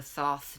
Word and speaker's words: Thoth: And this is the Thoth deck. And I don't have a lisp. That's how it's pronounced.